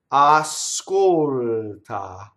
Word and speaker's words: ascolta: Ascolta. A, ah. So the two ahs remain pure ah. Ah. Ah, we have to make sure we stay at the same place.